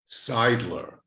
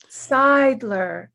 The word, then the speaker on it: Seidler: your name for me seidler seidler it rhymes with idler thank you david